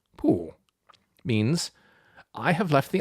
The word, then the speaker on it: Pù: verb to somersault and the same syllable downward poo means I have left the iron on and burnt a hole straight through the seat of the archbishop's trousers.